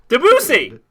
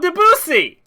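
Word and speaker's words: Debussy: at how to pronounce with a typical French pronunciation Cloe his first name DUI deusi DUI Cloud deusi I was right okay never mind I was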